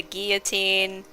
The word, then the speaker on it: guillotine: and then I remembered no wait that's like the actual way you're meant to pronounce it I think cuz it's a French word or something Guillotine. Yeah. It's like tortilla where you ignore the eye.